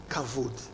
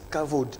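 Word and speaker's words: כבוד: Beaucoup de gens disent kavod, Okay. mais c'est par justement, ils lisent la transcription littérale. Exact. Mais le B, là, c'est à la prononciation d'un V.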